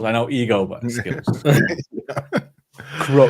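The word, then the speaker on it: kro: know ego but skills Crow you you pronounce like Crow right yeah in the bird yeah really okay yep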